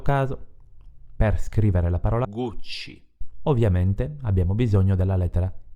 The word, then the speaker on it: Gucci: Se scriviamo una I o una E dietro la C, produciamo il suono C. In questo caso, per scrivere la parola Gucci, ovviamente abbiamo bisogno della lettera I, quindi Gucci.